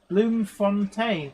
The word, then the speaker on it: Bloemfontein: Translation from Afrikaans to flower fountain or flower spring, pronounced Bloemfontein.